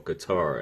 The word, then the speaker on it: Qatar: name is Wissam Al Mana, and he's from Qatar, or Qatar, as some of y'all like to pronounce it.